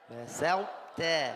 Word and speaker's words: بسطت: الحرف السادس هو الطاء، يدغم في مثله ونزيد على مثله حرف التاء، فنقول بسطت. كيف؟ بسطت. بسطت. بسطت. أحطت. أحطت. فرطتم. فرطتم. كل هذا فيه إدغام، ولكن إدغام ناقص.